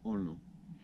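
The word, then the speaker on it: horno: It's spelled H-O-R-N-O. Yes. Orno.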